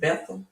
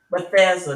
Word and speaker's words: Bethesda: There was a man at a pool of is it Bethel? I want to say it right. Or Bethusia. But he was ill and sick, right? And Bethesda, that's what I'm trying to say.